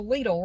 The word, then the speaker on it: Lidl: and i i'm there's a lidl right up the road from here l-i-d-l that is the way it's pronounced in the usa i made a whole